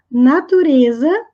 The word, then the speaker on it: nature: por incrível que pareça essa palavra tem duas sílabas não são três porque nós não pronunciamos o último E então fica natural pois